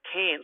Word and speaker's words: Cairns: north there you've got cans now cairns is a great gateway here i said that it's pronounced cans like a beer can so you hold your